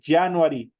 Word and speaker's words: January: se dice en inglés January es como que estuviera una elie en vez de esa J en el momento de pronunciar dice January enero es January febrero